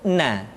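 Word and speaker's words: ن: Huruf na. Caranya menyentuhkan ujung lidah kita di antara posisi ro dengan la.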